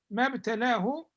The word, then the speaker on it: ما ابتلاه: Here, the mabtalahu, this alif is not pronounced. This alif is not pronounced. We move directly from the meme to the ba.